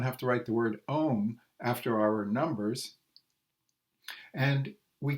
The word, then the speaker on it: ohm: indicate it's long so that tells you to pronounce it ohm his first name was George George Oh although